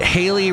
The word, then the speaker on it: Haley: Wait, Haley rhymes with daily.